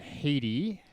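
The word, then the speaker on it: Headey: betty white chadwick boseman lena heady i think it's haiti is how you pronounce it and answer however you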